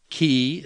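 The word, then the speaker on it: χ: the pH in phone ki sounds like the CH in chemical C sounds like the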